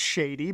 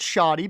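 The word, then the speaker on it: Shadi: I know it's shady, but I pronounce it shoddy because that's what Yu-Gi-Oh taught me.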